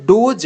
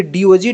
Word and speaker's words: DOGE: कुछ ना कुछ अच्छा बदलाव होगा तो जब डोज डी ओ जीी ई का जब उच्चारण हो रहा है तो इसी के साथ